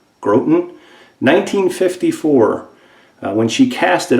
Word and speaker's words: Groton: came from Groton Connecticut I think is how you say it G ro t o n grote n' 1954 when she cast